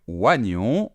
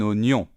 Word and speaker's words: oignon: Il y a un « i » et pourtant on ne le prononce pas. On ne va pas dire « oignon », on va dire un oignon.